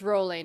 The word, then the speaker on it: Rowling: to know right now people say rally i say rolling how to pronounce sometimes